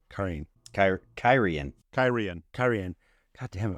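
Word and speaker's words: Cairhien: out phonetically for you Karen uh Karen sounds like Karen but with a ey Karen um what she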